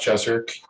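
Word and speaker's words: Jezerc: i know your name my name is jeserk and the last name is spelled j-e-z in zebra erc and i live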